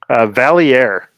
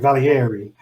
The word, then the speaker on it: Valier: Valier. See, I always want to put the E on there, like Valieri.